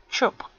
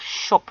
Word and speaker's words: shop: From simple arrangeous sentence, people pronounce this word as chop. The mistake ch H O P for chop. C H O P for shop. They say chop right instead of shop right.